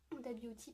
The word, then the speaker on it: Huda Beauty: Huda Beauty, pardon, excusez-moi, que je le prononce bien en anglais, Huda Beauty, donc bref,